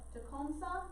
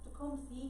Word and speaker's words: Tecumseh: note of his name so takomsa that's how your book pronounces it tacom c is another way of pronouncing it i hear about the other one is fine but tecon says how your book gives it so wasn't going to pronounce it that way so he was going